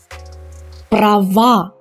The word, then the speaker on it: права: But when we change them into the plural form, the ending becomes stressed and it becomes A. Now it's a strong A. So it's the real sound A. So we pronounce it strongly. Слова, права, дела, места.